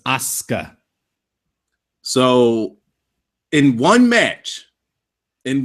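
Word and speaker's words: Asuka: that s that sound it's the same thing when you're saying Sasuke you don't thats soo sound you're not pronouncing it suits us so it's aska so in one match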